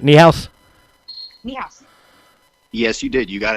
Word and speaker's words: Niehaus: Niehaus.